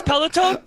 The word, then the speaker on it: peloton: how do you pronounce peloton there's no e on the end peloton sorry wait okay okay i think